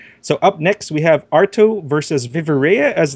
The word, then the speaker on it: Ai2tto: tree here coming up we have arto that's just it yes that is the way we pronounce the name arto versus viviera my name